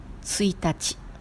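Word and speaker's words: ついたち: Le jour 1 a la prononciation particulière. On dit tsuitachi.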